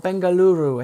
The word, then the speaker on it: Bengaluru: meet up with folks in Bengaluru unfortunately or Bengaluru I think is how you pronounce it right if Tommy forgot it right